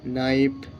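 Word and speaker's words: knife: সি K knock K এন আই এ পি নাইফ কে এন ই নি guys আমি কিন্তু মানেটা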